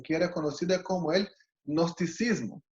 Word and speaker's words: gnosticismo: era conocida como el gnosticismo. Se escribe con una G al comienzo, ¿no?